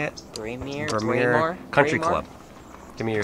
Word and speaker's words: Braemar: Braemar Country Club.